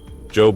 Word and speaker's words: Job: Michael slowly rose to his feet as he saw Job approaching. Job, pronounced like Job from the Bible, a spelling abomination that had irritated Michael since they were children.